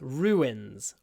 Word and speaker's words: ruins: now we can't uh so we connect the sounds with a W ru wins so you end up with Rue and then wins ruins ruins there are ruins